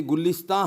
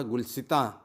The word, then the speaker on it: गुलिस्तां: तो कौन सा प्रोनाउंसिएशन ठीक है, आपका जहन में इस सवाल उभर सकते हैं। गुलसितां जो उर्दू स्पेलिंग है गुलसितां, गाफ लाम सीन ते आलिफ नुगुन्ना, लेकिन शायरी में छूट है। प्रोनाउंसिएशन का वज़न बराबर रखने के लिए, वर्ड्स का वज़न बराबर रखने के लिए गुलिस्तां पढ़ा जाता है।